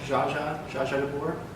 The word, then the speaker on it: orgeat: I know that's not how it's spelled, but it's pronounced like Jaja de Boer.